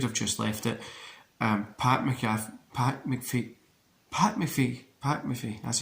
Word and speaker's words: McAfee: Pat McAfee, that's how you say it.